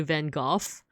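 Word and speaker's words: Van Gogh: yeah if you look at this painting by Van go um by the way I'm American so of course I've pronounced it van go but I've also heard that like I guess British people say van goof but the actual like Dutch way to say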